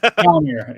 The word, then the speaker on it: Gallner: Gallner is how you say it.